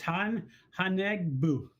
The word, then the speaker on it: Haunebu: How did you pronounce the Haunebu, or what is it? How do they Haunebu? It's Haunebu. Haunebu.